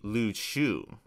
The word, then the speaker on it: Ryukyu: So Ryukyu is actually the more proper term, but Ryukyu is actually a Japanese pronunciation. The proper pronunciation is actually Ryukyu. That's the original Ryukyuan or Okinawan pronunciation, and I'm much more comfortable speaking Okinawan than I am speaking Japanese.